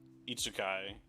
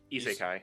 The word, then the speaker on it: isekai: truck, wake up in a new world, like itsukai is that how you say it? I- Isekai.